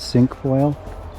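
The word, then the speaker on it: cinquefoil: is um it's called not sure on the pronunciation but it's sink foil nice yellow flowers sink plus c i n q u e I believe it's got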